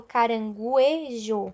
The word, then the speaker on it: caranguejo: do vamos ver né por exemplo caranguejo caranguejo e eu não escuto o som do uno é eu não falo caranguejo e se fosse caranguejo